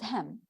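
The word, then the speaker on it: hymn: ever heard of it notice that the n is silent hem just like saying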